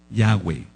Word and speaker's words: Yahweh: Yahweh, es el tetragramatón. ¿Por qué la va se pronuncia como W? Antes del exilio a Babilonia no sonaba como BAV.